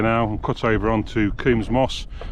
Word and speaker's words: Combs: Going up onto Coombs Moor, or Coombs Moss should I say, even though it's spelt Combs, it's called Coombs.